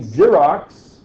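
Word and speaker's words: Xerox: dry writing the company zerox gets its name from the pro xerography and I don't know why it's pronounced with a z you'd think it would be an X but I don't know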